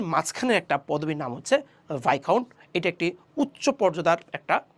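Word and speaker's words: viscount: আমরা ডিসকাউন্টের সাথে মিলে মিলে পড়তেছি ডিসকাউন্ট, ভিসকাউন্ট, আসলে না, এটা উচ্চারণটা হচ্ছে ভাইকাউন্ট, ভাইকাউন্ট।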